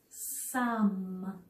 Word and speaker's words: some: If I didn't know better, I might think this word was the word some. I might think it was a silent E word where E was bossy and was making O say its name. But for some crazy reason, kindergarten, this word does not follow that rule.